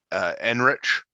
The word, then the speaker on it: Ehrenreich: But I didn't mind Aiden or Alden Enrich, or however you say his name. Ehrenreich.